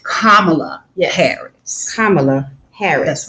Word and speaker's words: Kamala Harris: name that's it so let me teach you now how to say this lady's name that part kamala harris kamala harris that's right